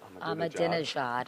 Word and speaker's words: Ahmadinejad: And they're having this major conference, I guess, President I always say his name wrong, Ahmadinejad. I always add a syllable for some reason.